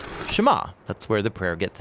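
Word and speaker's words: שְׁמַע: is hear or listen which in hebrew is pronounced shema that's where the prayer gets its name now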